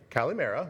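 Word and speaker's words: καλημέρα: Kalimera, like I said, is good morning and good afternoon. Was that the right pronunciation, Gabs?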